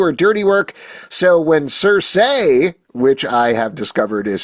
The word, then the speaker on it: Circe: humans to do her dirty work so when cers say which I have discovered is how you pronounce the character's name surprisingly different than I